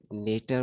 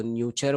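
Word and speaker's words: neuter: नेटर बोलते हैं, कई लोग इसको न्यूचर बोलते हैं, बट इसका एक सही प्रोनाउंसिएशन जो है वो नेटर ही है।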